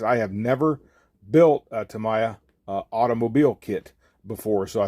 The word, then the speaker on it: Tamiya: I know it's pronounced several different ways, but I believe it's Tamiya.